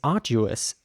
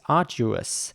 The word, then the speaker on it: arduous: So again, the A at the beginning is a little longer in British English.